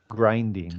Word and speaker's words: grinding: say grinding on grinding grinding it's a long I sound as everybody know what